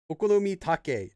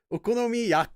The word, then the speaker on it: okonomi: Okomi take. I mean, yeah, you're very close. Okonomi, you're just just one syllable off.